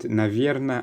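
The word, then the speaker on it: наверное: little bit of uncertainty with your answer and navierna and nor are used in many other different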